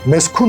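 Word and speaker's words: meskûn: Bazı spikerler meskun mahal diyor mesela. Bu yanlış. Doğrusunu söylemeliler. İnce uyla meskun olarak söylemeler diyemiyorsak ya yerleşim yeri diyelim ya da U'nun üzerine şapka koyup meskün olarak söyleyelim. Meskun mahal yanlış, meskün mahal doğru.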